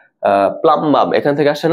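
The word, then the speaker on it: plumbum: প্লামবাম। ওকে, প্লামবাম বা প্লামাম বলা উচিত আসলে সঠিক উচ্চারণ।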